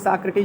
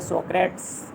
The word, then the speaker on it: Socrates: तो सुकरात की अंग्रेजी साक्रेटीज होता है, स्पेलिंग लिख लीजिए, SOCRATES, साक्रेटीज या सोक्रेट्स, इस तरह से पढ़ के आप इसको याद रखिए, शुद्ध उच्चारण साक्रेटीज, SOCRATES, साक्रेटीज माने सुकरात।